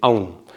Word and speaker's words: AUM: lo cojo y digo, como si se pronunciara A-U-M. A es hacia arriba, U es hacia abajo, y la M es la que le da la vibración adecuada, que ahora después lo